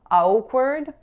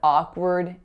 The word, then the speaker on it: awkward: it looks like so I often hear awkward but it's really just ah there's like pretend that W isn't even there so it's ah and then the second syllable is word word so it's an ER sound even though it looks like a R so that was an